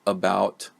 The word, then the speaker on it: about: So for example, about, right? About. So I try to pronounce the second syllable in that word. This word has two syllables, but the first one I just move through real quick.